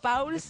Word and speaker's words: Pauls: Pauls, ¿cómo es? Paul, ¡nunca Paul, aprendo! Paul, pero lo dijiste bien. Pauls, está bien. Ah, porque es alemán. Claro. Pauls, claro. El alemán es como se escribe.